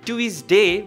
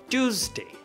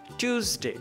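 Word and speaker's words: Tuesday: মাঝে মাঝে টিউসডে কে টুইসডে বলে থাকি এটা কিন্তু সঠিক উচ্চারণ নয় তাহলে সঠিক উচ্চারণটা হচ্ছে টিউসডে টুসডে নট টুইসডে okay টিউসডে পরের সেন্টেন্স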